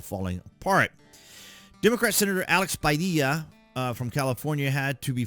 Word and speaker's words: Padilla: it the way it's Padilla. That's the way it's pronounced in Spanish.